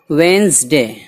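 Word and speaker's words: Wednesday: है ट्यूसडे इसको जान पड़ते हैं ट्यूसडे मंगल वेनसडे व्हेन ढूंढने पड़ते हैं इसलिए गुड यहां पर साइलेंट है हारमोंस है इस नहीं अपनाया जाता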